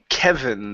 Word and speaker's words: Kevin: Next up is the word um Kevin. The name. Give me a good V sound here.